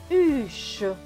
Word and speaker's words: huche: Plus loin, H et U. U, puisque le H ne se prononce pas. Plus loin, C et H, ch, avec le E, cela donne che. Donc ce mot va se prononcer huche.